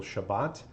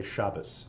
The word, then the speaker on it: Shabbat: people say for example Shabbat and some people say Shabbos and Shabbos is more of an older asking Ashkenazi pronunciation whereas kind of standard Israeli Hebrew will have a Shabbat instead of a Shabbos and so many people